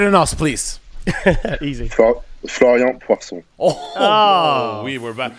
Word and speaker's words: Poirson: Poirson. How do you help us, yeah. Can you pronounce your name better than us, please? Easy. Florian Poirson.